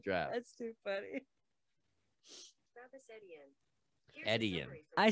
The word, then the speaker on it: Etienne: So first of all, if it's French, it's probably Etienne. It's E-T-I-E-N-N-E.